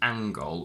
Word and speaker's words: angle: Because this word contains ng inside the word and it doesn't derive from ang, we say angle with a g after the ng sound.